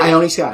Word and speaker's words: Ione Skye: I do feel like, how do you pronounce that? Is it Ione Skye? Ione Skye.